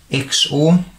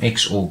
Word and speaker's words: XOR: okay and that is known as the xor or also maybe pronounced as the zorgate and it's essentially that